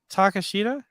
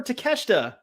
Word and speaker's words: Takeshita: name right say it right you got this takashita no come on we just you did perfectly before takeshita there it is to Kester we got frames